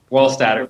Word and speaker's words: Wohlstadter: I'm here with Wohlstadter. Did I say it correctly? Close enough. Wohlstadter, but close.